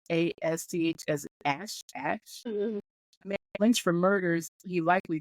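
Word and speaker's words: Asth: I would say that's pronounced A-S-T-H as Ash.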